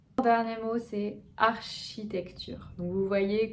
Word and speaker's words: architecture: Le dernier mot, c'est architecture. Donc vous voyez, comme chimie, le CH va se prononcer ch.